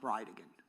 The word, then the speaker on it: Bridgen: It's Jared Gallon Bridgen. And I'll represent to you that it's pronounced Bridegan.